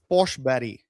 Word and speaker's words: Forsberg: Peter Forsberg is actually Foshberry.